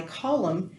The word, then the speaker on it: column: in the end but it stayed in the spelling even though we didn't pronounce it anymore so that's just a tiny tiny history lesson on why column has an N for